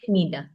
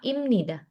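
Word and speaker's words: 입니다: Contohnya kalau aku bacanya kayak gini doang, maka bacanya ibnida. Hm. Ibnida. Tapi kalau misalkan aku sesuai aturan, dia kan dibacanya M nih. Heeh. Heeh. Maka imnida. Imnida. Beda kan? Nida sama imnida. He. Nah, makanya dibacanya imnida ya.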